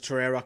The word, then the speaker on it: Torreira: Torreira is how you pronounce it. Yeah, Torreira.